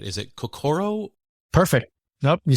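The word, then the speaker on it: 心: I hope I pronounce this right. Is it kokoro?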